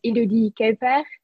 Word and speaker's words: Elodie Kuijper: Well, it's okay if you say it in like an English way, but it's normally pronounced as Elodie Kuijper. It's more French and Dutch combined, but you can call me whatever you want.